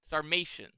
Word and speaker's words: Sarmatian: Starmation. Rhymes with Dalmatian?